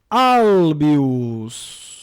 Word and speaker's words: Albius: Vejam lá, Albius. Esse bi aqui é a penúltima sílaba, breve.